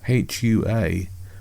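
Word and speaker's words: hooah: Army battle cry although Aluccino is saying it wrong places far too much emphasis on the worth sound in the second syllable. The real version is close to who are not who were as he says in the movie.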